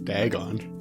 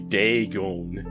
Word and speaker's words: Dagon: like a city boy daggone Oh it's actually day going it's Dagon but uh like the dragon yeah yeah it's like Dragon without an R okay Dagon dragon yeah